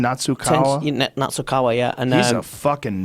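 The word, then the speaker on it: Nasukawa: Natsukawa, yeah.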